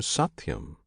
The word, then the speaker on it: Satyam: is the true Satyam this name Satyam consists of three syllables sat Yam sat signifies the immortal